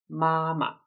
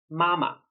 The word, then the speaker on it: 妈妈: The word 妈妈 also means mom or mother, but the second 妈 should be pronounced as neutral tone. 妈妈, mama, mom or mother.